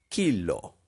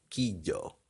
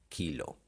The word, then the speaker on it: kilo: ella también a ver la respuesta directa sería kilo se pronuncia de esa manera kilo nunca que yo porque como ven se deletrea con la l es decir y l o kilo ya que estamos en